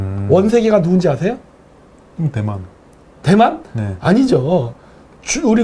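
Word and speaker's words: 원세개: 뭐에 비유할 수 있느냐 위암 스카이 한국 발음으로는 원 세계입니다 원세계가 누군지 아세요 대만 아니죠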